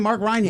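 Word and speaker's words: Mark Rein·Hagen: Mark Reinhagen.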